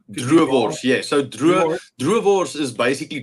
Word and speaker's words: droëwors: I'm thinking it's pronounced duors. Droëwors, yeah.